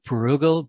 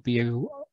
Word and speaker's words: Bruegel: done by a painter with my Midwest pronunciation is probably Peter Bruegel, Bruegel, in 1555.